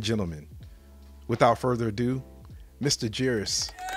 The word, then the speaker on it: Jairus: story ladies and gentlemen without further ado mr jeerus what's going on brother how you doing